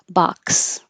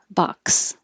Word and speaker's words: box: xylophone and xenophobia xenophobia when um the x is at the end of words it's going to sound like a k and an S together box box here's another one with it